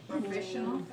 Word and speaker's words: professional: Professional. Professional. Right, you add AL, that's an adjective. Professional. So profession, 3-2. Professional, 4-2. Okay? 4 syllables, stress the second.